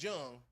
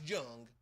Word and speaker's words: Jung: Josh Jung round Jung. Josh Jung. Jung J. Yeah. End of that thing. We don't pronounce J's like Hes.